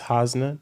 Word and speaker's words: Hasna: an amazing amazing guest with me it is hosna did I pronounce that right yes you did okay okay